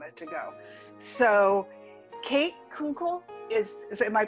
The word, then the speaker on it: Kunkle: to go so kate kunkel is is am i pronouncing that right uncle kunkel like uncle with a k okay kate kunkel is